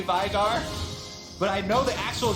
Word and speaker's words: Veigar: He's from Iceland. It's an Icelandic name, and it's actually pronounced Veigar. I hear a lot of people say Veigar, but I know the actual human.